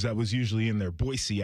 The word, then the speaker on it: Boise: Boise, actually, is how they tell you. We had an SID who was getting on us for not saying it right.